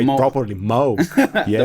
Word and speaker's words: Moog: Like if you use the Moog, let me say it properly, Moog.